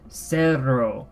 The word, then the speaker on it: cerro: So we have the K, cosa, like the English word cat, and then we have cerro with the S sounding, the soft fricative, the S sound.